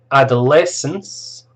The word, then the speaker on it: adolescence: stages adulthood old age adolescence that's four syllables stress on the third are the lessons infancy